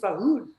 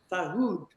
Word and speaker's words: Farhood: I said Steve Farhood. And he said, and proper way to say it is Steve Farhood. Farhood.